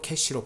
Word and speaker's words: cache: 캐시는 영어로 캐시로 발음하지만 문자 그대로 읽으면 카처, 까처 이렇게 읽을 수 있습니다.